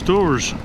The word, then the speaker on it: Dores: And Dores is spelled D-O-R-E-S, like Doris. Not like D-O-O-R-S.